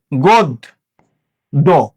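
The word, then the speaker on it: গদ্য: এই যে দয়ের সাথে একটা জফলা, দয়ের সাথে জফলা মানে হলো দটা দুইবার উচ্চারণ হলো। কয়বার উচ্চারণ হলো? দুইবার। তো প্রথম দতে কোনো স্বরচিহ্ন ছিল না, গোদ দো, গোদ দো।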